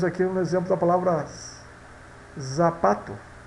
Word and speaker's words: zapato: Que temos aqui um exemplo da palavra zapato. Isso vai ser pronunciada como sapato, sapato, tá?